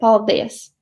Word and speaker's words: paldies: We have some exceptions, for example with the word thank you or paldies, and it comes from two words, paldies dievam, thanks to the God, and now it has a stress on the second syllable, paldies.